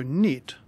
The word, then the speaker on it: knit: been a fluke so knit like other words starting with KN n has a silent k such as knife or